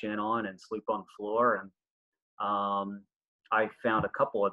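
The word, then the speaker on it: Goor: a town called um it has a simple spelling its G oo r and I was told when I got over there because you roll the G's it's pronounced floor I guess or doing something to that effect so that's where we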